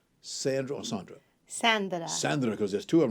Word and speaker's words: Sandra: Sandra.